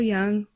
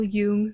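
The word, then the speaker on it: Jung: Firstly, Half Moon is inspired by the work of Carl Young or Carl Yung depending on how you pronounce his last name, but he has this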